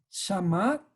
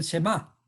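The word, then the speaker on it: שמע: En este caso es Shama, o que lo que nosotros conocemos también otra pronunciación es el Shema. El Shema, pero aquí está escrito como Shama, las mismas letras, ¿no?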